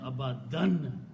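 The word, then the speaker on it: أَبَدًا: Also, one thing to notice in the recitation, that the word is abadan here, which means it has these two fathas have the sound of noon. The way saying abadan, okay?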